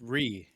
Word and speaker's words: Re: Yes, it's Re. It's just Re. It's Re, but I put the punctuate or the parentheses so you know how to pronounce it.